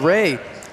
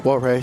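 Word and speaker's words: Wray: And we see Cameron Ray come to the floor for the first time tonight. Last name is spelled W-R-A-Y, but I don't think it's Warray, so maybe that W is silent.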